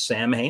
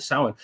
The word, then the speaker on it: Samhain: they wouldn't have reckoned the months quite the same way at that time approximately at that time